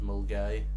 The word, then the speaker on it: Milngavie: That's Moongavie. It's spelled like Moongavie, isn't it? Milngavie is like how it's spelled, yeah. But it's pronounced Mulgai.